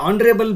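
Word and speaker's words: honorable: ಮಾಡ್ತೀವಿ ಸೋ ಹಾಗಾಗಿ ಇಲ್ಲಿ ಆನರಬಲ್ begins with A ಸೈಲೆಂಟ್ಎಚ್ and vowel sound ಹಾಗಾಗಿಎ ಮತ್ತು ಆನ್ ಬಳಕೆ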